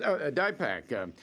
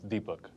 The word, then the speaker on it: Deepak: Yes, Dipak. Now, what roles did you play in the Royal Tenenbaum, or what role, I should say? Excuse me, Peter. The pronunciation is Deepak. Deepak? Deepak, yes. It's spelled Deepak.